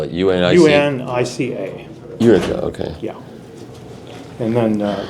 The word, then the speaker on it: Unica: How do you spell it? U-N-I-C? U-N-I-C-A.